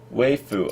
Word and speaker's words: Weifu: Weifu.